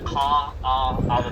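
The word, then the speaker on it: Kaʻaʻawa: Now this valley right now is our northern valley, or the Kaawah Valley. It's spelled K-A-A-A-W-A.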